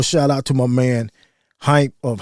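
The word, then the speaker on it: Hympe: Definitely want to give a shout out to my man Hype of How to Hustle Podcast. Is Hype, not hype.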